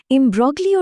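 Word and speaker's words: imbroglio: তো আসল ব্যাপারটা হলো এমব্রগলিও শব্দটার অর্থ হলো একটা ভীষণ জটিল বা বিভ্রান্তিকর পরিস্থিতি। আর বানানটার দিকে একটু ভালো করে তাকান। খেয়াল করেছেন? মাঝখানে একটা জি লুকিয়ে আছে। যার উচ্চারণ কিন্তু একদম সাইলেন্ট থাকে।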